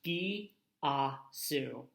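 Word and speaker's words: Γειά σου: Gyasu is pronounced Gi-a-su, and it is Greek, which comes from the land of Greece.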